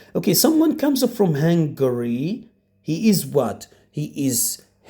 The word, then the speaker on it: Hungary: speaks Greek that's right most most students don't know how to pronounce this word this word is Hungary Hungary Hungary but it is not hungry hungry when you are starving when you need food but this is Hungary Hungary hungry but when